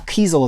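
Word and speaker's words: Kesel: is the carl keys is it kiesel right call kezel is how i think we pronounce his name terry dotson pete woods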